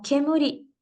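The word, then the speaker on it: 煙: separado el kanji eh número dos eh se pronuncia como kemuri y significa humo eso es su lectura de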